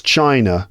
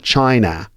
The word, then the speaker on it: China: Actually, when we pronounce China, we don't say China. It's China, hear that sound? That's the schwa sound, which is very common in unstressed syllables of words in English, right?